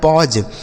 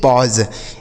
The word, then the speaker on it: pause: PAUSE, पी से हो गया प, AU का उच्चारण अ, SE से ज, लिखा है पॉज, PAUSE पॉज।